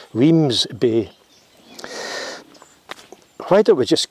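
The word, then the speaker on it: Wemyss Bay: i got a ferry from we miss bay which is probably pronounced wrong the bus driver corrected me and said weems bay why don't we just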